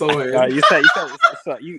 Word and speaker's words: Sochan: At 10, I have Jeremy Sochan. I think that's how you say it. I don't know how to say it. It's Sohan. You were close, nigga.